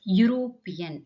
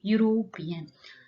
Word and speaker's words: European: Yes, no, that is European, not a E. E is again silent here. It starts with the sound of U, European.